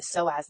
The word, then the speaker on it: psoas: own research and the soaz muscle is the holder that is the emotional holder if you Google it. What does the soass muscle hold? The so muscle is spelled ps o a s.